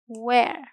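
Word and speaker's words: where: वेयर। अब आप कहोगे यहां तो एच है। यहां एच जो है यह साइलेंट रहता है।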